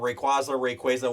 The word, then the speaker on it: Rayquaza: Rayquaza, whatever.